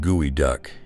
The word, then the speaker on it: geoduck: The geoduck, pronounced gooey duck, is the world's largest